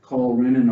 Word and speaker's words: renin: really it's an enzyme r-e-n-i-n and then you should put on a side bar there's also r-e-n-n-i-n that you can run into pronounce the same way okay then you've got